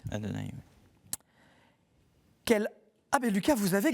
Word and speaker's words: Adonai: Le Seigneur Dieu, effectivement, nos frères juifs prononcent Adonai. Adonai.